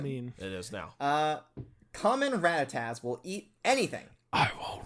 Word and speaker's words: Rattata: Rattata. You told me that was the correct Pronunciation.